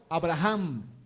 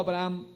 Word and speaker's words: Abraham: Sabemos que se llamaba primero Abraham y luego se llamó Abraham. Muchos solamente dicen Abraham, pero realmente la H se debe pronunciar en el contexto del origen del nombre hebreo.